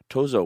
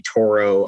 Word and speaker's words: Tozzo: uncommon i'm just happy students don't call me toro i've gotten uh too so i've gotten uh